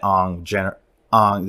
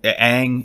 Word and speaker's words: Aang: big old wave that Ong, I'm saying that right? Ong? That's how they say it in the film. Aang, is it Aang that they say in the cartoon? Yeah, but in this universe, it's Ong.